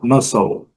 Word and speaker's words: muscle: Muscle, pronúncia muscle, muscle.